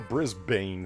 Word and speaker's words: Brisbane: Yeah, is this like Stop a Brisbane pronouncing thing? shit? What? Like I said, it's like a Brisbane thing. No, it's Brisbane, but that's not how it's spelled. But that's how it's said, damn you.